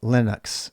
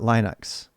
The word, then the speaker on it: Linux: guy is from finland and his name is pronounced linus and so that's why we say linux and not linux as if it wasn't confusing enough linus who